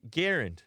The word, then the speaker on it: Garand: bear once I said I'm the only one who pronounces his name correctly but you're telling me that it's actually garand yeah Ian from Forgotten